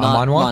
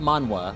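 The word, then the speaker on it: manhwa: Ah manwa. Manwa. Not mana.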